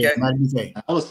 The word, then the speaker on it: Madubuike: And that's how you pronounce his name? Madubuike. Yeah, Madubuike.